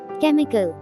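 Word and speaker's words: chemical: কেমিক্যাল, কেমিক্যাল, রাসায়নিক। কেমিক্যাল, রাসায়নিক। এখানে মার্ক করা এইচ লেটারটি অনুচ্চারিত থেকে যাচ্ছে।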